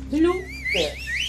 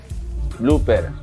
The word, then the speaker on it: blooper: Blooper. A ver. Blooper.